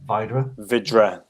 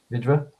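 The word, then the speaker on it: Vydra: the the goal when i call them hydra but it's not pronounced hydra is it it's vydera vidra he uh he's on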